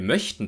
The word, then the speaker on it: möchten: den langen gespannten ölvokal wenn wir aber sagen wir möchten das nicht oder ich möchte das nicht dann sprechen wir den kurzen ungespannten Vokal mögen möchten Ö in